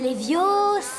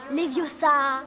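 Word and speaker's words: Leviosa: même pas le prononcer c'est les VI et pas les VIOS et bien pour terminer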